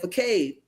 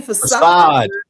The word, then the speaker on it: facade: So they just taking the pages and nobody noticed that you said fade. What the you mean facade?